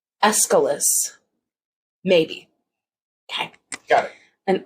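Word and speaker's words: Aeschylus: up our Amazon device I pronounce that escalus but I'm always working on how I say things and I might not have it right escalus Maybe okay got it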